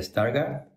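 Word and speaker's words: Stargardt: equivoco padece síndrome de stargard pronuncia así tal cual se llama síndrome de starg parece que sea una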